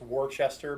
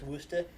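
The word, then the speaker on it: Worcester: an American it's Toronto kind of like if you spell it it's Worchester but if you live there it's woosted yeah or if you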